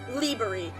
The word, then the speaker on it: Liberi: Yeah, no, like, for real, like, that, I've been saying Liberi for the longest time, but so it's the stressed syllable is the Li part. Liberi.